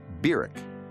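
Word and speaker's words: Barack: in August of 1959 was birck Hussein Obama that's how he pronounced his name Beck he was welcomed at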